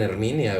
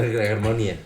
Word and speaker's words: Hermione: No, o sea, sí dices Hermione. Jolie, pero... La Hermione le dicen Herminia, güey. No mames, Herminia. no exageren. No, Hermione.